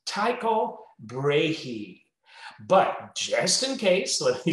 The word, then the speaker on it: Tycho Brahe: you well let me say it first it's taiko brehee just in case let me spell it it's t-y-c-h-o last name b-r-a-h-e and